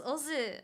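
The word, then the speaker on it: OOO: You pronounce this Ozu.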